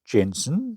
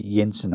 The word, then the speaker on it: Jensen: But being Denmark, it turns out it's um it's not George Jensen or you say Yensen. I don't believe they pronounced the J's, but this is his son, which is Jorgen Yensen.